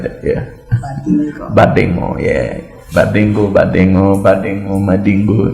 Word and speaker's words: Badingu: She can't pronounce my local name. It's Badingu. Badingu.